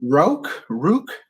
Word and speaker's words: Rauk: Rook?